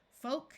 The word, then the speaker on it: folk: the p is silent two words follow this pattern with a long o and a silent L folk and yoke and two